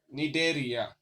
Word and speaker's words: Cnidaria: Pronunciations Cnidaria.